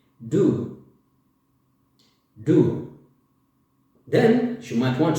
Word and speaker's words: du: When you want to talk about another person, you say you, which is du. Du.